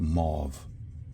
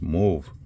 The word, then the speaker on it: mauve: It comes from the French. And in French, au is pronounced o. So it's move.